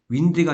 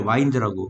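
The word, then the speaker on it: wind: 2번은 와인딩을 외우지 말고 윈드가 아니라 와인드라고 감다 과거는 와운드 뭐라고요 와인딩 하면 현재분사입니다 간기는 무슨 그거 외우지 말고 와인드를 발음이 틀려요 바람은 윈드고 와인 된다 와인 집에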